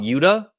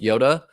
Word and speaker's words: Yoda: was contracted by um a lot of people call him Yuda his name is Yoda it's pronounced Yoda and Yoda hired me